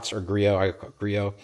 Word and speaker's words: Griot: Griot. I assume that the T is silent, but what do I know?